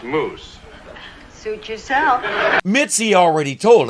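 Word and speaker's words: mousse: you call this Joyce salmon Mouse it's pronounced moose suit yourself Mitzi already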